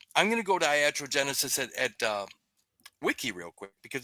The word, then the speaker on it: iatrogenesis: It's spelled IATROGENESIS. Iatrogenesis.